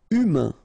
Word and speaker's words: humain: Humain, remember, H is not pronounced, A-I-N, un, humain.